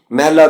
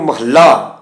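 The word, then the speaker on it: ਮਹਲਾ: ये जड़ उच्चारण है इसन महल्ला या महल करना ये ठीक नहीं है उ अर्थ इमारत वाले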